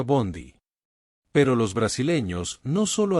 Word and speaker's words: bonde: al final y pronunciaron Bondy. En portugués es común agregar un sonido final a las palabras que terminan en consonante. Así Bond se convirtió en bonde, que se pronuncia Bondy.